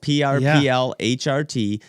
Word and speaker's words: PRPLHRT: I took out the vowels, so it's just PRPLHRT. Phonetically, you have to say it that way, and it doesn't infringe